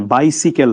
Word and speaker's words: বাইসিকেল: Cycle কিন্তু যখন এর আগে বাই প্রিফিক্স বসে তখন আর উচ্চারণটা সাইকেল থাকে না, মানে বাইসিকেল হয়ে যায়।